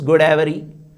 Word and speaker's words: Godavari: Even Godavari, which is a Telugu word, how do they pronounce? It is Godavari.